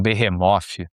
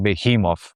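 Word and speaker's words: Behemoth: É quase um behemof ou sem a pronúncia abrasileirada, quase um behimov, a banda polonesa de black metal.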